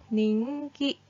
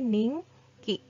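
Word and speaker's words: 人気: adalah kosakata baru dia Kalau digabungkan dengan kanji ini tanjiki atau gas dibacanya menjadi ninky ninky Hai ninky bacanya nih ya bukan Jin lagi bukan Dito lagi tapi Ning Ki yang artinya populer Hai nah ini janji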